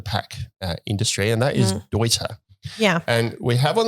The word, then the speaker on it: Deuter: If you pronounce it the English way, you're spot on. Okay. All right. So you work for TMO Sports, and as I mentioned, so TMO is the distributor of Deuter here in Australia, but